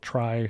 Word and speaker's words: trie: this is TR pronounced tree t e for retrieve but a lot of people call it try so you don't get confused with the regular tree structure in summary relational method